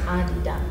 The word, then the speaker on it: Adidas: It's pronounced Adidas. Oh, Adidas.